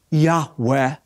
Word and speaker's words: Yahweh: of Israel whom submitted scholars believe is pronounced a breathy reverent Yahweh the Lord kills she